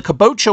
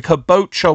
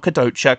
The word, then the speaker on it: Kabocha: yeah um oh the caboa wine I am so sorry I have been saying it wrong this whole time I am so sorry the caboa wine not Kadota caboa I if I said